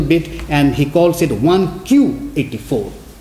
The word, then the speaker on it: 1Q84: He blends it a little bit, and he calls it 1Q84. Q, Japanese 9 is pronounced as Q, and 1Q84.